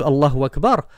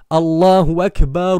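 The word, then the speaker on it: الله أكبر: Donc normalement tu dois dire Allahu Akbar, Allahu Akbar. Donc faites attention mes frères qui faites aussi l'adhan, c'est Allahu Akbar, Allahu Akbar et non pas Allahu Akbar, Allahu Akbar. Sinon vous vous arrêtez. Allahu Akbar, Allahu Akbar. Mais Allahu Akbar, c'est une faute, entre guillemets, grammaticale.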